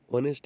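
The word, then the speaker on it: honest: ऑनेस्ट यानी कि जो प्रोनाउंसिएशन है वो अ से होता है।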